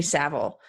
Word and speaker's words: Savile: talking about at the BBC it was Jimmy Savile and yep so one of EPs teens best friends was Prince Andrew one of Savile's best friends was Prince Charles yep anyway I